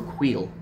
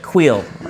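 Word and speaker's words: Kuiil: It's either Quill or Queel. I think the last one. It's in between, but it's the last one you just said. Yeah, it's Quill.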